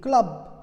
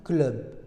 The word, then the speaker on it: club: Et pour le mot club, club, c'est un cas intermédiaire à la prononciation française. C'est-à-dire, on n'a pas prononcé ce mot comme en anglais club. On n'a pas prononcé comme c'est écrit en français club. On a dit club, club. Imaginez qu'il y a un E avant le U pour que ce soit prononcé club, club, leur, club, sœur, feu, feu, que, je.